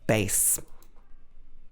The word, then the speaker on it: bass: This is pronounced bass.